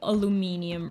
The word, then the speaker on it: aluminium: We got all the aluminium ingots. I think in the US you say aluminum.